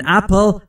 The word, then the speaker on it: apple: همچنین دوستان در مورد تلفظ اپل دقت بفرمایید، نگفتم اپل. توجه بفرمایید، بسیاری از زبان آموزا اشتباه تلفظ میکنن چون بین پی و ال صدایی وجود نداره، ما هم مجاز نیستیم صدایی اضافه بکنیم. an apple یعنی یک سیب، صداش به این صورته پل پل، مثل people یعنی مردم، جماعت.